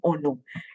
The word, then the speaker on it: Ono: Now, Ono is it's the name of the place, but it's pronounced Ono, Ono Valley.